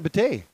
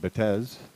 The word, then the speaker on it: Bate: And Jason Bate. I've been mispronouncing his family name. I've been saying Betez. Or Betez.